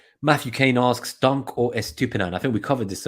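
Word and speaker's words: Estupiñán: I like it's, if you don't know how to pronounce Estupinan, listen to the Planet FPL Clash of the Correspondents, and Sam, the correspondent, he said, "My stupid nan."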